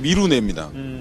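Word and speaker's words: 미리내: 미리네. 예, 예. 미리네가 카페 이름 미리네가 많던데. 네, 그렇죠. 원래는 발음이 미루네입니다.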